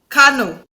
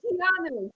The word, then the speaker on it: Keanu: Keanu. Kanu. No, Keanu.